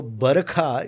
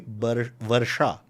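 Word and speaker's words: वर्षा: Sh is often pronounced as kh. Oh. V is pronounced as b. Okay. So Barakha is actually Varsha.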